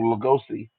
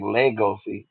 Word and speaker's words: Legosi: And the way they said it, they said like for Lugosi, they would call him Lugosi, but in the English version, they kind of say Legosi. So I guess it's the way you want to pronounce it.